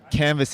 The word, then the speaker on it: Canva: like what's the word canvas in French and he's like it is canva unbeknownst to us it's spelt exactly the same as canvas they don't pronounce the S though no one registered the